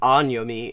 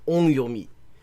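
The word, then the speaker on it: 音読み: know anything about this, because listen to that pronunciation, onyomi and kunyomi. That is, like, literally none of that is a sound that is resembles the Japanese pronunciation onyomi, kunyomi.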